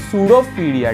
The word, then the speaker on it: pseudopodia: तो गाइस इसमें P silent है, इसको हम प्रोनाउंस करते हैं सूडोफीडिया, ठीक है गाइस।